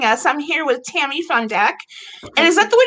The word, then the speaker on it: Butt-Fundak: everybody for joining us I'm here with Tammy's on deck and is that the way to pronounce it Tammy yes yes okay good um